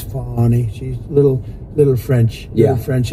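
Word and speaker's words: Fani: treated you very unfairly she goes by the name of Fon even though it's f a n i she wants to pronounce fny she's little little French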